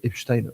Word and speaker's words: Epstein: Epstein, c'est que donc Epstein aux États-Unis, comme vous le savez, Epstein en France et bien et quand je dis Epstein en France, c'est parce que même Jack Lang le prononce comme ça.